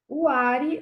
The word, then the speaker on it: Huari: Agora nós temos o outro povo chamado Huari ou Wari, tá? Tem essas duas pronúncias.